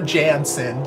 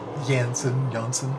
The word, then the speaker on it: Jansen: So it's not Floor Jansen. You guys let me know. It's Jansen, whatever.